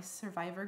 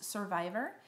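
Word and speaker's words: Cervivor: that I have gotten to know through my survivor groups and it's time to end this it's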